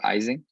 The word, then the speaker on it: Ising: His real name is, I think, Ising. That's how it's pronounced, but everyone says Ising.